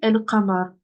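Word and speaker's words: القمر: là en français, et qu'il est suivi par une lettre lunaire, alors on prononcera le lemme. Par exemple, ici, el-qamar.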